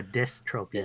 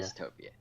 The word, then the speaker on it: dystopia: utopia, but it's a dystropia. Dystopia.